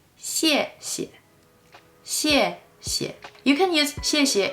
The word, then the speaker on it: 谢谢: The first 谢 is pronounced with a fourth tone, and the second one is pronounced with a neutral tone. So, 谢谢. We don't say 谢谢, we say 谢谢.